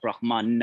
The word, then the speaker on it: Brahma: Brahma is not Brahman. I don't know if I've discussed that, but let's not take a detour now. Brahma with a long A is a celestial.